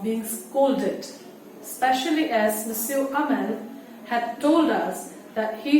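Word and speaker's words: Hamel: If you look at para 1, his name is Monsieur Amal. The H is silent.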